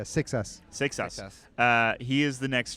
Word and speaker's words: Seixas: How do you pronounce it with an X in Seixas? it? Yeah, 6S.